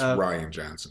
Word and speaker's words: Rian Johnson: they've already announced that That's Ryan Johnson, just so you know. Rian, well, they should spell it with a Y then, if they're gonna call him Ryan.